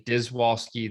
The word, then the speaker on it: Dziwulski: If you say Dziwulski, that's acceptable.